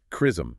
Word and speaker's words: XRISM: Oh, and just for context, it's pronounced chrism. Crism.